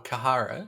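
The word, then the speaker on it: Khara: why I was like wait a minute Cara or kahara see k h a r a uhhuh is gyx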